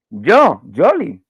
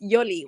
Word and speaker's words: Yoli: Yoli. It's with a Yoli. It's Yoli. Y O L I think that you're saying with a J.